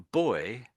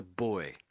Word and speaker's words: buoy: So that's a buoy. This is not spelt like a child, is it? There's an extra what a u in there.